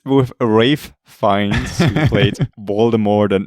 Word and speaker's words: Ralph: look at us uh yeah it's with a rave finds he played baltimore than many other iconic